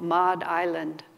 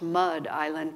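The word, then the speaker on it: Madh Island: on a place called Mod island I think it's actually pronounced Mud Island but I have a hard time saying that Mod island which is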